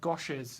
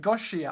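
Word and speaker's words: Gosia: Gozia says, I pronounce her name Goshes. Is that right? Is that how I pronounce it? Goshes? Is that what you meant? Goshia. Oh, Goshia. Okay, awesome.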